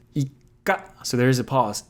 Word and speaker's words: ikka: But if you put a little tsu, it's pronounced ika. So there is a pause, ika, or a double consonant, ika. In this case, you're doubling the K sound because that's the consonant following the small tsu, ika.